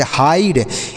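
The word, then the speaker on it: hide: किया जाता प्यारे बच्चों किसी भी शब्द के लास्ट में अगर ई होता है उसका उच्चारण नहीं करते हैं तो इसे हम पढ़ेंगे हाइड एच आई डीई हाइड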